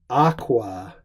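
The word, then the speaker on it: aquā: something in water, in aqua. This is a long A because this is our ablative singular of aqua, a first declension noun.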